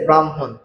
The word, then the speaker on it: ব্রাহ্মণ: তো এখানে তারপরে হ যোগ ম রয়েছে। এখন হ যোগ ম এর থেকে আমাদের কি হবে? পরের বর্ণের উচ্চারণ আগে হবে। আগের বর্ণের উচ্চারণ পরে হবে। তার কারণে এখানে কি হবে? ম অ তারপরে কি হবে মওকার হ আর দন্তন্য বাম হন ঠিক আছে ব্রাহ্মণ তারপরে দেখেন আহলা